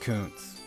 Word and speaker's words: Kuntz: Okay, it's actually pronounced Kuntz.